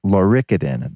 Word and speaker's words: Lauricidin: It's called Lauricidin. That's spelled Lauricidin, and it comes from lauric acid.